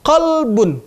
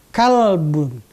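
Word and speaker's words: قلب: Begitu juga pada saat kita membaca qalbun, menggunakan kata qaf. Ada orang membacanya dengan kalbun, artinya anjing.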